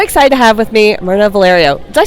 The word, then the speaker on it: Mirna Valerio: i am so excited to have with me myrna valerio did i say that right yes you did thank you for pronouncing my name right so excited to have